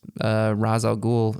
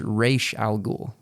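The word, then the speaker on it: Ra's al Ghul: but uh uh Christopher Nolan and Company actually pronounced razal ghoul incorrectly for the entire movie as well as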